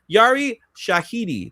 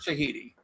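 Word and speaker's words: Yara Shahidi: So So Yari Shahiti, that's her name. That's how we say her name. Shahiti.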